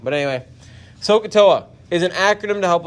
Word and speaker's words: SOHCAHTOA: is that sohcahtoa now sohcahtoa that's how you pronounce that s-o-h-c-a-h-t-o-a sokatoa is a theorem we're going to use and it's an actually an acronym sohcahtoa is an acronym yes it sounds like sacagawea all right so i